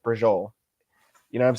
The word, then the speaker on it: braciole: That is spelled Braciole, but you pronounced it brajol.